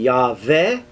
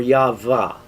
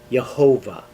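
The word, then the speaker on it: Yahweh: val yah and then the two possibilities uh for ending it would be ya ve or yava and uh there are variations of that but in no case uh could it be pronounced jehovah uh in jewish tradition the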